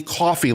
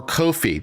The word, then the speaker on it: Ko-fi: And by the way, as noted here in our lower corner, we now do have the Ko-fi link, or Ko-fi, depending on how you want to pronounce this word.